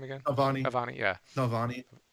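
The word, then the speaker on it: Navalny: again naani aani yeah Nani I said it wrong last week I said noani but it's Nani um yeah it's it's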